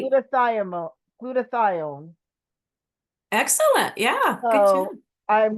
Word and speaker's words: glutathione: Glutathione.